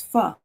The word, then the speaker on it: pho: Yeah, it's pho. That's what the pronunciation said, which is, there are 2 main